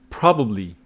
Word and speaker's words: probably: just a virus so pronunciation of two words kind of misleading sometimes probably probably it is on the first syllable probably not probably probably